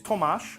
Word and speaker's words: Tomas: sad um I'm playing Tom toas Thomas it's Tomas that's the way I pronounce it because it's actually my middle name yeah um and his